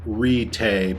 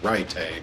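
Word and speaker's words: Ritae: expected to lead the perverted rite and it's pronounced ritay but my stupid tongue always wants to say write a of the sect why don't you just step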